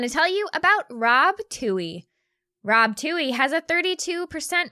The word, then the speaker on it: Twohy: Toohey is spelled Twohy.